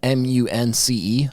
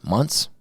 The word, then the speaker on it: months: Most people pronounce that munce, months, but it's not. It's months. Anyway, 8 or 10 weeks